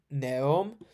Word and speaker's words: Neum: Neum, is that how it's pronounced? Neum.